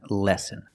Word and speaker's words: lessen: of heart disease pronunciation lessen so we see these two words are pronounced exactly the same lesson and lesson with the short sound